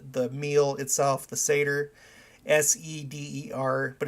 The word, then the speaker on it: seder: name of the the meal itself the seder s-e-d-e-r but it's pronounced seder that's what i knew but i